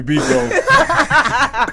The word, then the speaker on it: Biko: And they never heard him say, yo, my name rhyme with Rico. Hey. Call me Biko. Never. Who got a hard time saying Biko? Exactly. People do though. They be like Biko. As in boy.